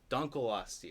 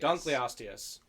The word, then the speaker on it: Dunkleosteus: out yes crunch all right vote for Dunkleosteus dunkleostia Dunkleosteus quarter in the mispronunciation jar yes we really should have gotten